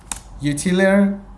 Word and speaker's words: Utilyre: You probably want to follow me on X, Utilyre, that's how it's pronounced.